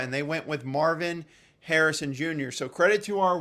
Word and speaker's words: Harrison: idiots and said Marvis Harris is going to stay there um at number four the only thing I'd say is Sir learn to pronounce his last name fully correct at Harrison but anyway Marvin Harrison